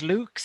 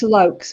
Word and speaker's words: Lukes: I pronounced your last name as Lukes, is that correct? No, it's Lokes, but that's Lokes.